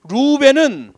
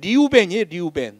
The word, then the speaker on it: 르우벤: 루벤은 우리말로 루벤이라고 되어 있지 원래 발음을 하면 리우벤이에요. 리우벤.